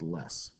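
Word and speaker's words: loess: Less, pronounced less. The O is kind of silent.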